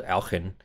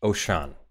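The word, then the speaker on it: Auchan: grocery store here called Alcon or however you pronounce it I'm still learning Oh Sean excuse me as in like ocean very close okay OSHA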